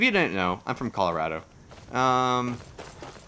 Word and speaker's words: Colorado: If you didn't know, I'm from Colorado. And it's pronounced Colorado, not Colorado. So if you're from out of state and you say Colorado, you're wrong.